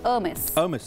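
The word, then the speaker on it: Hermès: इसको कहा जाता है हर्मेस। अच्छा। आपको पता है वहाँ की प्रोनाउंसिएशन फ्रांस की ज़रा डिफरेंट होती है।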